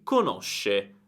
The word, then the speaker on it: conosce: Io conosco, tu conosci, lui, lei conosce. noi conosciamo, voi conoscete, loro conoscono. Quindi ricorda la differenza di pronuncia: conosco, conoscono, e poi tutte le altre sono conosci, conosce, eccetera. Sk e sh.